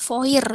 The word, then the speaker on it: fois: Contoh itu ada foir, itu bacanya berarti wa. Wa. Kemudian ada moi, bacanya berarti moi. Terus ada voice, FOIS, itu bacanya foi.